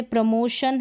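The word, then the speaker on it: promotion: बाद में ION है, हम टी को ट नहीं प्रोनाउंस कर रहे हैं कि आपने देखा कि टी लेटर आ गया और टी को ट ही प्रोनाउंस करेंगे, नहीं, तो यहाँ पर श भी पढ़ रहे हैं।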